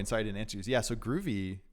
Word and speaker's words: Grüvee: didn't answer yeah so groovy was essentially just a a play on the word groovy so gr ovy but instead of instead of spelling it like that I decided to spell it like this with an ohm law over the U and just to e so like good evey you know but groovy